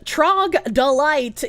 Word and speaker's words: troglodyte: It's pronounced Trogdolite, you communist gangster.